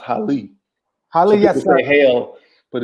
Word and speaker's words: Haile: a that's that's my Mirena so we use pronounced Holly Holly yes my Heil but yeah it's really